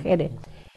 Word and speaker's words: Jerez: Nos pedían los libros, igual pasa en Alemania, con una editora que se llama Diana Jerez se escribe, Jerez como Richard Gere, pues Jerez.